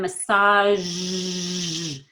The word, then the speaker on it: massage: So sash and then massage. The air freely comes out.